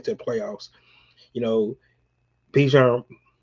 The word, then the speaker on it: Bijan: You know, Bijan Bijan Robinson said right because he told us how to correct this name, how to say his name.